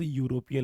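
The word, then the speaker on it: European: Vowels परंतु यहां पर स्वर में क्या निकल रहा है? मतलब उच्चारण में क्या निकल रहा है? यहां पर व्यंजन। तो शी इज यूरोपियन लेडी।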